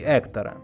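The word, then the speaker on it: Héctor: sounds much softer until the name hector is spelled with the letter h, but in Spanish this letter is not readable from that hector incorrect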